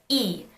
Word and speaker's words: 이: of this tool emoji the surname Lee becomes pronounced as e in Korean keep in mind that